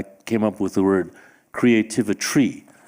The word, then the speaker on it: Creativitry: up with the word Creativitry, which Rachel just said rhymes with chemistry, also rhymes with artistry, and I might add rhymes with sorcery, because that's what we're talking about.